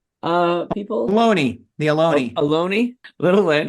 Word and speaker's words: Ohlone: I'm not sure how to pronounce the Olone people. Ohlone.